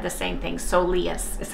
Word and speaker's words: soleus: or masseuses have both said the same thing so leas is how you pronounce it so I appreciate the information thank